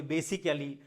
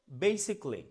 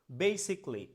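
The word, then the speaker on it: basically: আমরা বলি বেসিক্যালি, mindfully, হ্যাঁ, ওয়ান্ডারফুলি। এভাবে বলা যাবে না, উচ্চারণ করতে হবে বেসিকলি, বেসিকলি, mindfully, mindfully, mindfully, wonderfully, wonderfully. তার মানে ফুললি নয়, বেসিক মানে ওয়ান্ডারফুললি এভাবে বলা যাবে না।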